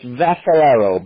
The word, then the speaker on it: Vascellaro: You do it all, Charlie Vascellaro. Am I pronouncing that correctly? The C is a little softer. It's just Vascellaro, but you're close enough.